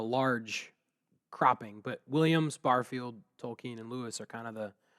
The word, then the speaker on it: Tolkien: Early on, Lewis's closest friendship was with Tolkien, and I pronounce it that way because I believe it's the way he pronounced it.